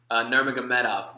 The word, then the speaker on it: Nurmagomedov: Nurmagomedov. That's exactly how you say it. I don't want to pronounce it wrong because I respect them.